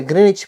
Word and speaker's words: Greenwich: பற்றியும் நாங்க பார்க்கலாம் வாங்க நாம் தமிழ்ல இந்த இடத்தை கிரீன்விச் கிரீன் கிரீன்ச் என்று சொல்லிக் கொண்டாலும் ஆங்கிலத்தில் இதனை கிரேனிச் என்றுதான் உச்சரிக்க வேண்டும் ஆரம்பத்துல உலகத்தில் பல இடங்கள்ல